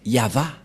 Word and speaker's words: Yahvah: V et he et la prononciation de ceci c'est yava voilà la prononciation de ce